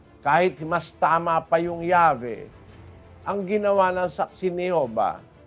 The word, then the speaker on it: Yahweh: While inclining to view the pronunciation Yahweh as the more correct way, we have retained the form Jehovah because of people's familiarity with it since the 14th century. Ayan, maliwanag ho. Mas naniniwala raw sila, mas malamang daw ang paniniwala nila na ang original na pronunciation o pagbigkas ng pangalan ng Diyos ay Yahweh. Yahweh. As the more correct way, mas tama ang Yahweh.